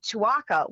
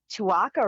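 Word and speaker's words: Tuaca: she introduced me to twaka which my first thought was twaka rhym rhymes with Chewbacca so so anyway dour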